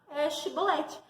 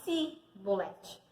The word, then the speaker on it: Shibolete: não eram de Efraim, conseguiam simplesmente falar Shibolete. Mas eles não, os de Efraim não conseguiam, eles não conseguiam pronunciar Shibolete. Eles falavam Sibolete.